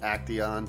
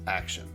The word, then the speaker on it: Action: Alright, this next build is by Action123, although he will always be Acteon to me. But he wants it pronounced Action.